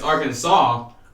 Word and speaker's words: Arkansas: It's Arkansas, but then how come Kansas isn't Kansas?